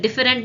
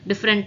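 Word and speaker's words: different: நிறைய பேர் இதை டிஃபரெண்ட் தானே சொல்லிடுவீங்க. டிஃப்ரெண்ட் types and டிஃப்ரெண்ட் classification இதெல்லாம் நம்ம படிச்சிருப்போம். ஆனா இது கரெக்டான ப்ரொனன்சியேஷன் என்னன்னா டிஃப்ரெண்ட். ரெண்டு சிலபிஃபிகேஷன் தான், டிஃப்ரெண்ட். அந்த இடத்துல ஈன்றதே சைலண்ட் ஆயிடுது. இட் இஸ் டிஃப்ரெண்ட்.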